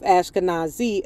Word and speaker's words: Ashkenaz: From postbiblical Hebrew, Ashkenazim, plural of Ashkanazi, equivalent to Ashenaz, right?